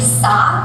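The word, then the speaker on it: Sah: great favorite parents their last name is actually sa s-a-h and when my dad immigrated here to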